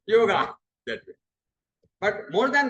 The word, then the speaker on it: Yoga: Of course, Patanjali Yoga Peeth, they write Y-O-G, but the pronunciation is Yog.